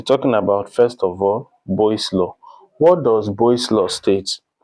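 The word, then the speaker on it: Boyle's law: So for boy's law, boy's law, B O Y L E S, that's the way it's spelled.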